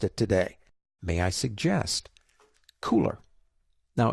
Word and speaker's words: Kuler: today may I suggest cooler now it's spelled kul ER but it is called cooler as in hey it's cool what is it well